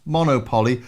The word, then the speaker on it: MonoPoly: although it's spelt monopoly it's actually pronounced monopoly because you can play it monophonically one note at a time with all four